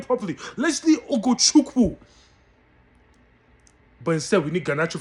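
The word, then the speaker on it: Ugochukwu: Let me pronounce his name properly. Leslie Ogochukwu.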